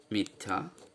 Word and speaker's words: মিথ্যা: যেমন মিথ্যা, মিথ্যা। এক্ষেত্রে আমরা দেখতে পাচ্ছি এই জফলা ব্যঞ্জনটিকে দ্বিতীয় করে দিচ্ছে এবং জফলার সঙ্গে যে আকার, সেই আকারের আয়ের মতোই উচ্চারণ হচ্ছে, এ বা এর মতো উচ্চারণ হচ্ছে না।